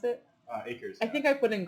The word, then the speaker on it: Akers: How you pronounce it? Akers.